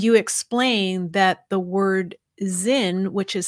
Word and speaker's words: Sinn: And you explain that the word Sinn, which is spelled capital S I N N, uh, is pronounced as though the S were a Z and is the German